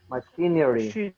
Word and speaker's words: machinery: Machinery. Machinery. The E is almost silent. You don't say machinery, just machinery.